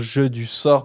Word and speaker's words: jeux du sort: des jeux du sort il faut bien que je prononce jeu du sort parce que je crois qu'au dernier épisode j'ai dit jeu du genre mais du coup le